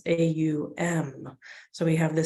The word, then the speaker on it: Om: In the English tradition, we see it as 2, but traditionally in yogic traditions, it's AUM.